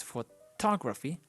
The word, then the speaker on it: photography: And we have the words photography, because the intonation is, the stress is in the to syllable. So it's photography, but we say photograph.